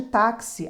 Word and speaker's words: táxi: tem som de KS no caso de táxi a letra x representa dois fonemas o k e o s para memorizar um pouquinho